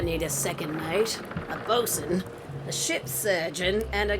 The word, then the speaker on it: boatswain: I'd make a great bosun. Exactly what Oh, it's pronounced qualifications bosun?